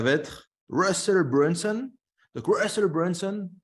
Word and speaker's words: Russell Brunson: Donc Russell Brunson, je prononce à l'américaine, c'est un entrepreneur américain qui est spécialisé dans les tunnels de vente.